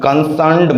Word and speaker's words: concerned: I talk to concerned mother and I talk to mother concerned. CONCERNED. R is silent. There is no sound of R in this word.